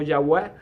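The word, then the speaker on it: Yahweh: área B Jehová o yahwe viene de la palabra eh eh constituida con cuatro letras el tetragramatón eh que que se pronuncia se pronuncia hoy en día como yahwe verdad del hebreo eh Cuál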